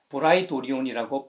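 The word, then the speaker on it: πραιτώριον: 불렀던 것입니다 그래서 성경에서도 헬라어로 번역할 때 프라이 토리온이라고 했고 한글 성경에서도 원어의 가까운 발음인 브라이도리온이라고 번역했던 것이죠 총덕 관저는 당연히 군대가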